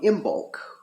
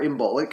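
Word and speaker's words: Imbolc: secondarily uh we come up on imul uh or imic I'm not sure um I usually pronounce it imul and forgive me if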